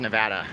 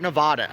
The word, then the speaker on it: Nevada: I love Las Vegas Nevada and it is Nevada it's not Nevada okay we made a special license plates so people can pronounce it correctly it's Nevada although people